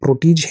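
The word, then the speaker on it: protégé: फिर एक होता है प्रोटीज, मतलब प्रोटीज है, दिस इज प्रोनाउंसिएशन।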